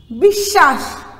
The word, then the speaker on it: বিশ্বাস: এরপরে দেখো বিশ্বাস, বিশ্বাসটা কি, শব্দের মধ্যের বর্ণে যদি বফলা থাকে তাহলে যে বর্ণের সঙ্গে বফলা থাকবে সেটির উচ্চারণ দিত্ব হবে। দিত্ব দিত্ব মানে কি? দুইবার উচ্চারণ করব আমরা।